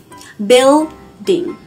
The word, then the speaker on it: building: Building. Như vậy các bạn thấy là chúng ta phát âm từ này là build, tức là âm y đúng không? Building, chứ không phải là building.